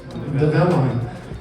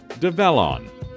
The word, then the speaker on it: DEVELON: So yes, so if you think of develop onwards, developing onwards, DEVELON is how you say it. So just like you would say the word develop. DEVELON.